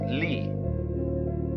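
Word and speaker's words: 理: They pronounce it lee.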